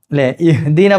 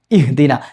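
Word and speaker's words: اهدنا: പക്ഷേ ഇത് കൂട്ടി വന്ന സമയത്ത് അവസാനം വന്ന അലിഫിന്റെ ഉച്ചാരണം പുറത്തേക്ക് വരില്ല. അത് കേൾക്കൂല്ല.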